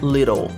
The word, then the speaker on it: little: Little peut être aussi prononcé little. Little. Le T subit une légère modification dans la prononciation et devient ce qu'on appelle un flap T.